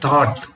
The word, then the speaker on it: thought: first one they are thought t-h-o-u-g-h-t now is that spelling their G necessary there do we pronounce g in the spelling thought but when we write